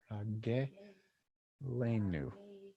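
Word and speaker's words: רגלנו: Ragelenu. We put a little pause between the gimel and the lamed there because of this little vowel, the vertical, that kind of sets it off, right?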